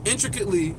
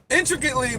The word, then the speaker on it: intricately: like that intricate but you don't even pronounce the T it's intricately but the t is silent man intricately but no T no